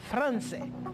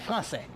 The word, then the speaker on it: français: La que tiene abajo se llama cedilla. Por lo tanto, se pronuncia como si fuera una S. Por lo tanto, je dis maçon et nuestra materia français. Super, français.